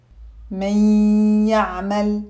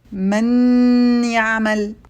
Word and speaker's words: من يعمل: We say من يعمل. We don't say من يعمل because then we would have kept the noon clear rather than combining it with the next letter. We also don't say من يعمل and exaggerate the shadda on the ya. The correct pronunciation is من يعمل.